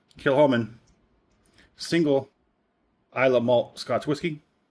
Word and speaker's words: Kilchoman: C is silent. Kilchoman single Islay malt Scotch whisky.